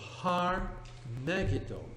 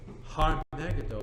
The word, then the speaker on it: Har Megiddo: mountain or a hill yes har har so har Megiddo har Megiddo becomes in the book of Revelation Armageddon you do not pronounce the age in Greek book of Revelation